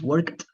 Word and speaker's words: worked: you pronounce the Ed worked worked uh how do you pronounce it okay yes in work we say like t word okay okay yes what